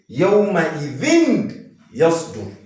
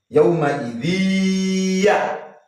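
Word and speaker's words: يَوْمَئِذٍ يَصْدُرُ: However, because this is an idgham, you won't say yawma idhin yasdur. If you say yawma idhin, yeah, what have you done? You've done izhar. You pronounced everything clearly. You've not applied the rule of idgham. And we said al-idgham is what? Inserting harf sakin into harf mutaharrik. So how are you supposed to pronounce this particular place? Yawma idhiya. Idhiya.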